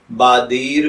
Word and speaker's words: بادیر: तो चलिए बढ़ते हैं अपने आज के टॉपिक बादीर की जानिब।